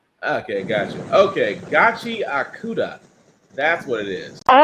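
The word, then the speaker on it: Gachiakuta: I had to look I had to look up the pronunciation. I got tired of I got tired of disrespecting it. So, Gachi Akura is what it's called.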